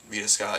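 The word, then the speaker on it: Veda Scott: care for they just kept booing vaa Vita Vita Scott yeah that's how pronounced but uh for the most part like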